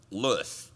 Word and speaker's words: Saint Louis: want to say it what's the correct pronunciation ken st louis lewis okay uh that meeting